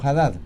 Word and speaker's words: Haddad: intendente de san pablo fernando haddad o fernando hadad depende si usted quiere pronunciar la h como jota como los árabes o si quiere profesional